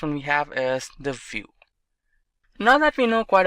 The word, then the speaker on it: Vue.js: web application Sol solution vue.js is commonly referred to as View and pronounced as vuejs or view is rightly so now why should